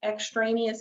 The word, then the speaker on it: extraneous: And sometimes the SAT will give you extraneous information. Extraneous, if you're not familiar with that word, the first 2 syllables are extra, meaning it's extra, it's not necessary.